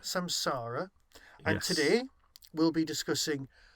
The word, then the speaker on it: samsara: memory and Sam Sola which I can never pronounce samsara samsara and today we'll be discussing my take on